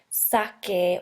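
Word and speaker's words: saque: And as a reminder, the reason we do that is so we can maintain the hard C sound. So it's sake or saken instead of sase or sasen.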